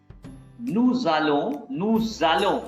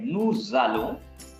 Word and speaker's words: nous allons: Nous allons, because here you see this S. This S is pronounced as Z.